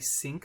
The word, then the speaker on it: sinc: x, that's called a sinc function, pronounced like kitchen sink, but spelled S-I-N-C.